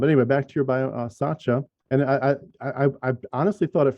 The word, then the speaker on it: Sacha: No, it's Sacha. Yeah. Oh, Sacha. It is Sacha. It's soft. Yeah. So I've been mispronouncing it this whole time. Okay. That's okay. I like to say that it's the same as you would pronounce Sacha Baron Cohen, because if I could